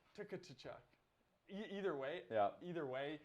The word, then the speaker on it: Tkachuk: You include the T in Tkachuk. What, I said Tkachuk? I said Tkachuk. You don't even know what you said now. I meant to say Tkachuk. Yeah, no, Tkachuk.